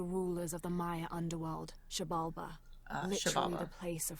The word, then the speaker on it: Xibalba: Xibalba. Okay. The X is a sh.